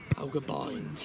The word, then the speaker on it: Balgobind: I texted your dad and said, is it Balgobind or Balgobind? Balgobind. It is Balgobind. So I've been saying it right the whole time, and everyone else is wrong. Balgobind, yeah, Balgobind. Phonetical.